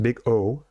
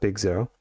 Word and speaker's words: Big O: analysis pronounced big O, not big zero.